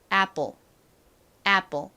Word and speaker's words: apple: 애플 애플 요렇게 쓰고 읽는데요 미국식으로는이 단어를 보통 apple apple 요렇게 살짝 볼 소리가 나게 발음을 합니다 자 저희 한번 한국식 발음 말고